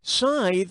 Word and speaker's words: scythe: leafy tithe or wrathki Scythe rhymes with tithe but I still like